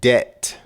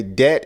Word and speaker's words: debt: credit report debt debt notice how the b is silent debt okay debt is simply money owed